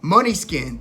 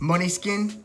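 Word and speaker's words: Måneskin: on the radio now money skin this is a rock band from Italy an Italian rock band it looks like they're spelled main skin but I guess it's pronounced money skin but they are kind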